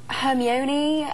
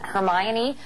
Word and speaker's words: Hermione: hermy w i know I know I had so many different interpretations like oh um herion uh Herm ju but now I guess now I guess because of the movie everyone knows how to say her name and Hermione like Emma Watson is